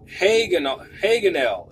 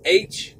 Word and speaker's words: Hagonel: And his other name is Haganel. It's Hagonel.